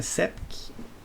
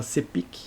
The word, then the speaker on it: SEPIC: seria alguma coisa assim o nome dele e a inglês a pronúncia CEP em português muita gente fala serpic então tanto faz tanto